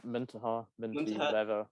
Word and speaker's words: Muntaha: So today I have Muntaha. Am I pronouncing that correctly? Yeah, Muntaha, whatever works.